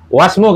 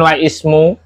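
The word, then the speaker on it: وَاسْمُ: Wasmu. Kenapa dibaca Wasmu? Kok bukan waismu? Karena ngikuti yang depan, Pak. Bukan. Kenapa kok bacanya wasmu? Kok bukan waismu? Oh, itu hamzah wasal.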